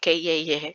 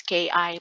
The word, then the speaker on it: KI: is Japanese and um mali pala yung pagka-pronounce ko dati sa ano Kye kasi most of the Japanese ganun kasi sila eh like Huji Song, auto song um kaya ako nag-aano na-doubt ako kung paano ba talaga i-pronounce ito. But the right pronounce uh to pronounce their uh web uh name of their website is KI pala.